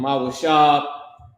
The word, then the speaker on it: Mawashab: Mawashab, Mawashabath Yakum. Hold on. Bang, bang, bang, bang. Mawashab is dwell. Oh, wait, hold on. Let me put out how you pronounce it. Ma-wa-shab, right?